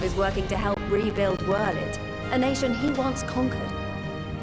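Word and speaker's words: Werlyt: Gaius bloody Baelsar himself is working to help rebuild Wurlid, a nation he once conquered. Whirl it, that's how you pronounce it.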